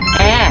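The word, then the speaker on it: 이: เกาหลี มา ก่อน ีฮาริน อ้า อย่าง งี้ ก็ สามารถ ทำ ได้ นะ คะ ก็ จะ เป็น สกุล ลี ี ก็ คือ เวลา เกาหลี ออก เสียง ก็ คือ ออก อี เนาะ ก็ คือ สรุป ว่า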